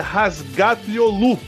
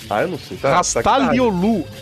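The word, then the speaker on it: Razgatlıoğlu: Aliás, parênteses, Rodrigo, o nome do cidadão lá é se pronuncia Razgatlioglu. O G você não pronuncia, porque tem uma... É, eu sei, mas não, é Rastar. Rastalioglu.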